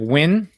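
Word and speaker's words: Nguyen: surface of io win it's pronounced like win thank you jake that's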